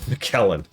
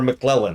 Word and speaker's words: McClellan: McKellen. Or McClellan, excuse me. I always pronounce his name wrong.